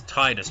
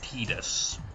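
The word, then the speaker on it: Tidus: people probably lies with his name pronounces Titus but it's apparently pedis so I'm going with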